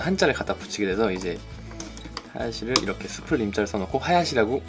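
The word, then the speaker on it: 林: 이 하야시가 거기다 한자를 갖다 붙이게 돼서 이제 하야시를 이렇게 숲을 림자를 써놓고 하야시라고 읽게 되는 겁니다.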